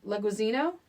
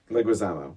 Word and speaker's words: Leguizamo: and then John um I would say his name wrong leguizino Leguizamo Leguizamo he shows up and I was floored